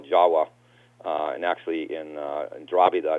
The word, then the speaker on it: Java: Java, which they call Jawa, and actually in Dravida it's called Jawa, and although it's Java, the V is pronounced as a W.